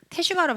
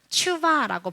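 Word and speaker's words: תשובה: 그래서 테슈바라는 발음보다 추바라고 발음을 해야 한다라고 하더라고요.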